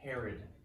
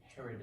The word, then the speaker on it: Herod: And then there was a time they had, before they came to Jesus, they encountered a king that kind of rhymes with my name, but he was evil, so I don't like to think about it rhyming with my name.